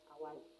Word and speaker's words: Hawaii: Maui had, Hawaii had, am I pronouncing that right? Hawaii. Yes, Hawaii, okay.